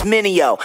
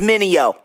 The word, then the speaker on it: Minio: Everybody make mistakes like VJs, try to say my name, it's Minio. Say it with me, Minio.